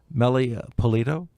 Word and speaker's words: Meli Pulido: Meli Pulido?